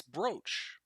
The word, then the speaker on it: brooch: let's let's listen right BR pronunciation apparently it's brooch what no I don't